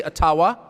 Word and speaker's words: Ottawa: taken from you no matter who is in Ottawa or as we say atawa which by the way is the correct pronunciation according to my friends in the ajua